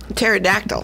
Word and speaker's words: pterodactyl: bathroom Terry doc though pterodactyl why can't you hear Terry doctor go to the bathroom it was in a silent movie no because the P is silent the B address yes